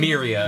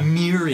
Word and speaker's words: Miria: Miria. Miria.